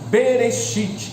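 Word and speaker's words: בראשית: hebraico do idioma hebraico que em hebraico se pronuncia berechit berechit traduzido para o português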